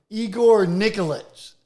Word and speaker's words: Igor Nikolić: the way podcast a little Wade's world with Igor Nicholas is that pronounce that properly you nailed it man right